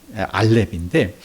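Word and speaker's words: אלף: 우리가 어 발음 발음상을 이응 약 아주 약한 이응 발음으로 시작하는게 알파벳 알렙인데 여러분 맞배기로 지금 맛배기로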